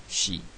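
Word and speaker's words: 四: Et pourtant, parfois, 4, vous le verrez prononcer shi. 7, vous le verrez prononcer shiti.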